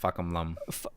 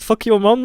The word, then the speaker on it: Fahkumram: Well, actually, or technically, I guess his name is pronounced Fahkumram. Yeah, you saw Book's tweet on it, right? It's Fahkumram. Yeah. Fahkumram, not fuck your mom.